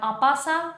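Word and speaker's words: en passant: there is the uh you can say npcent or apasa as per the french pronunciation and uh white can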